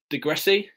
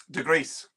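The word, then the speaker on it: Degryse: Is it Degrassi? Degrees. Degrees. Yeah, Degrees scored as Sheffield Wednesday beat Arsenal 1-0 on the 8th of April 1996.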